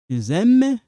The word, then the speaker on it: aiment: Vous aimez silent aiment elles aiment.